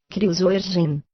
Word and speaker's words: Kruisbergen: Assim, por exemplo, Nelly pergunta: que quer dizer o Uitsbergen, Kruisbergen? O Dr. Van Eeden comenta: é essa a pronúncia quase exata da palavra.